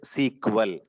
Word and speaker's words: SQL: full form SQL or people are going to be calling this as a sequel never never write like this this is completely wrong but you can pronunciate like this you can pronounce it like this this is the wrong one clear so you you